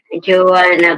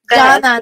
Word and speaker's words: Johnna: Joanna ba? Hindi. It's pronounced as Jana, not naman. Joanna. Yeah. Joanna. Jana. Di ba itong pakato? Excuse me pa, it's like Jana, not Joanna.